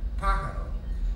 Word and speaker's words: pájaro: First of all, the accent was over in the first syllable, so it's pájaro.